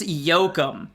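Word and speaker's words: Yocum: Dallas Yoakum. Oh, wow. And it's spelled Y-O-C-U-M.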